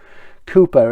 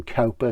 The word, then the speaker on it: Cowper: just read one caliper Cooper is the real pronunciation we call him Cowper so we know for